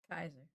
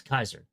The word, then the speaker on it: Caesar: They pronounced it with that hard C or K.